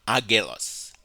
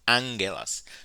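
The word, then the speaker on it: ἄγγελος: It is pronounced angelos. It's not agelos. It's not agelos. It's angelos, because the two gammas form creates the sound N.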